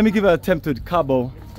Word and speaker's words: Kgabo: sure let let me give a attempt to Cabo Cabo that's right right hey Cabo Cabo so I'm getting this family Cabo so